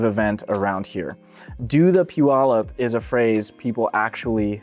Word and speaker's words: Puyallup: And first things first, it's pronounced Puyallup.